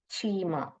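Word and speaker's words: Cheema: वहां पर गांव था चीमा सी हेच प्रोनाउंस एस च चीमा करके एक गांव का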